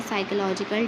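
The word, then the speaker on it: psychological: होता है जहनी बीमारियां ये पीस में साइलेंट होता है यहां से हम इसको पढ़ते हैं साइकोलॉजिकल डिसऑर्डर डिसऑर्डर कहते हैं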